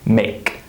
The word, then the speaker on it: make: The E is silent, right? Make.